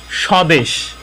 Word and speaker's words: স্বদেশ: এখানে শব্দের প্রথমে যদি প্রথম বর্ণের সাথে বফলা সংযুক্ত হয় তাহলে সেক্ষেত্রে বফলার কোনো উচ্চারণ হয় না। এখানে বফলার কোনো উচ্চারণ হয়নি। স্বদেশ, এই শব্দের উচ্চারণ স্বদেশ, এখানে বফলার কোনো উচ্চারণ আসেনি।